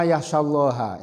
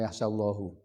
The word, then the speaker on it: yakhsyallaha: Qala ta'ala innama yakhsyallaha. Ini ingat-ingat bacanya yakhsyallaha. Ada ulama yang di MUI itu membaca innama yakhsyallahu. Terus diingatkan yakhsyallaha.